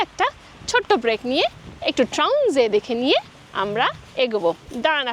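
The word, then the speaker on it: Traunsee: শুভ্র বলে যে ট্রাউনজে।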